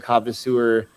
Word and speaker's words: Kavasseur: It will be in the show notes, but it's KAVASSEUR. Yes, yeah, like connoisseur, but kava.